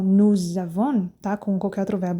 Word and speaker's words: nous avons: Quando eu junto S com a seguinte palavra que começa com vogal, que no português nós fazemos também com mais ou menos. Aí, ó, mais ou menos. No francês eles fazem isso, o nome disso é liaison. E aí, então, nous avons, tá?